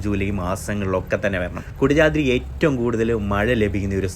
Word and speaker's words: കുടജാദ്രി: കുടകപ്പാല ചെടിയുടെ പൂക്കളുടെ പേരിലാണ് കുടജാതിരി എന്ന് ഈ മലക്ക് പേര് വന്നതാണ് പറയപ്പെടുന്നത്. നമ്മുടെ ഈ കുടജാതിരി കുടജാത്രി എന്ന് മലയാളികൾ കൂടുതലായിട്ട് പറയുെങ്കിലും കുടജാത്രി എന്നാണ് ശരിക്കായിട്ടുള്ള ഉച്ചാരണവും ശരിക്കായിട്ടുള്ള പറച്ചിലും വരുന്നത്.